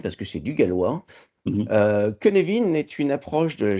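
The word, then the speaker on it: Cynefin: se prononce ça s'écrit cinechine mais ça se prononce Kevin parce que c'est du Galois kenevin est une approche de la gestion de la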